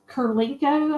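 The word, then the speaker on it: Kurylenko: It's got Mila Kunis, Beau Bridges, Ludacris, Chris O'Donnell, Donald Lowe, Kate Burton and Olga Kurlenko, I think is how you say her name.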